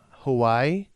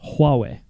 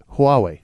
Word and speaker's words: Huawei: look at when I went in fatso no Hawaii who why who for the whole way they made they made in the Nexus 6p